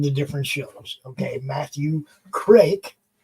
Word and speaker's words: Kreke: Okay, Matthew Kreke. I know it looks like Creek, but it's Kreke.